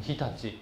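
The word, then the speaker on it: 常陸: 就念成 Hitachi 哈，Hitachi，在现在的伊巴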